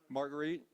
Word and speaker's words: Marguerite: He remarried, I don't know if it's pronounced Marguerite or Margaret. Marguerite? Okay. Their son Raleigh, First World War uniform.